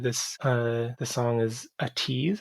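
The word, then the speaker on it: ATEEZ: uh the song is a tease and that's how you pronounce that a-t-e-z i don't know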